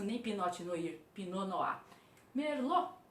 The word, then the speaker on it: Merlot: Merlot, Merlot também sem citar o T final. Essa é a pronúncia correta, tá?